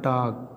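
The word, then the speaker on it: talk: इसी प्रकार टाक, के से पहले देखिए यल दिया है तो इस यल का उच्चारण क्या हो जाएगा, साइलेंट हो जाएगा।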